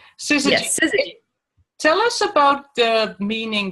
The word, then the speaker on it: Syzygy: So, and your company, your business name, Syzygy. Yes, Syzygy.